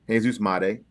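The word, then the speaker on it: Jesús Made: We were um even corrected on fanatically how to say his name and we have it now. Jesus Mate, but he's been a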